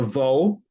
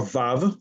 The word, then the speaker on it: vav: And so that is when you have reached your sixth day of creation because six means the vow or vav. You can pronounce it either way.